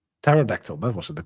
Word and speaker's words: Pterodactyl: I I just struggle with No, the P is silent, right? Pterodactyl. Pterodactyl.